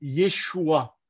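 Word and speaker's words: ישוע: le nom de… » Alors, je prononce exactement le nom de Jésus en hébreu, puisque ce n'est pas en grec qu'il a donné ce nom, le nom de Yeshua. Mais Yeshua, si vous regardez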